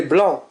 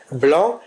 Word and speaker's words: blanc: personne du singulier et nous avons l'adjectif qui se termine par le C qui ne se prononce pas.